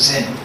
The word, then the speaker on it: Zen: Dhyan, from dhyan, in Japanese pronounced as Zen.